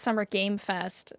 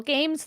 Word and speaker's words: Summer Game Fest: don't understand why it's summer game Fest I there were multiple games there and I keep saying games with an S yeah it's not with